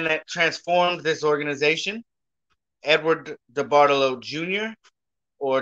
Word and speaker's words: DeBartolo: transformed this organization, Edward DeBartolo Jr., or D. Bartolo. So many people say his name so many different ways. I'm going to go with DeBartolo.